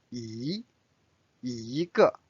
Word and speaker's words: 一: Normally it's pronounced as 一, but when this is a fourth tone here, it is changed to 一个个 again it's a measure word.